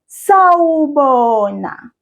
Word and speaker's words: sawubona: To say hello in isiZulu, we say sawubona. Here it is right up here. Sawubona. I will read each syllable and I'll ask you to repeat each syllable after me. Sa, wo, bo, na.